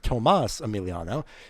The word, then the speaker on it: Tomas Emiliano: I've been mispronouncing that the whole race. My apologies. That is Tomas Emiliano.